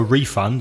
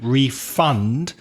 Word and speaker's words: refund: yeah we also have the noun refund before which also works doesn't it because you ask for a refund that's the noun but can you refund my money so their stress changes to the second syllable record is another example